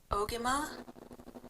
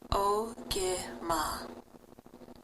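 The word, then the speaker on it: ogimaa: It connects you to be able to learn how to pronounce this word that is in the Anishinaabe language. In this case, Ogama Mikana. Ogima, Ogima.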